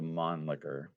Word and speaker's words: Mannlicher: So I think we're gonna agree to call it the Monlicker in this episode. Yeah, as much as we can. I know it, as Danny said, it's probably not the correct German pronunciation.